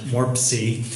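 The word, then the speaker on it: MORPC: well good afternoon I'm I'm the executive director of the Mid Ohio Regional Planning Commission our acronym is pronounced warp sea from Columbus Ohio and before I get started I want to thank my colleague dr.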